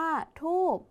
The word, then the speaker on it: ธูป: มา ค่ะ คำ ว่า ธูป คำ ว่า ธูป คำ นี้ ออก เสียง พยัญชนะ ท้าย เหมือน บ ใบ ไม้ เหมือน กัน แต่ มี ป ปลา เป็น ตัว สะกด คำ ต่อ มา ค่ะ